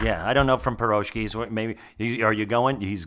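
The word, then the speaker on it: pirozhki: The stress in piroki is properly placed on the last syllable.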